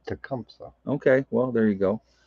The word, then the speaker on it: Tecumseh: treshum michigan probably said it wrong i apologize dracumsa tecumseh okay well there you go london is in